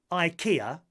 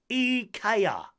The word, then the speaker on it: IKEA: You might have visited IKEA millions of times and half your home might be filled with its furniture, but that doesn't mean you're pronouncing it correctly. Rather than IKEA, it's actually IKEA.